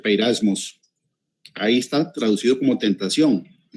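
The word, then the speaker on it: πειρασμός: En la Reina Valera 1960, la palabra tentación, y ahí puse la referencia, que en la concordancia Strong es la G3986, se pronuncia peirasmos, Ahí está traducido como tentación, pero la definición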